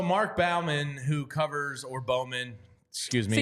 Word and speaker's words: Bowman: Balman who covers or Bowman excuse me I would say Bowman uh I I grew up with somebody of that last name they pronounced it Bowman so we'll go with Bowman Mark Bowman from down